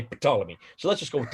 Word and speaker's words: Ptolemy: second century a.d ptolemy you don't pretend you don't uh pronounce his let his first letter p just as they ptolemy but i see it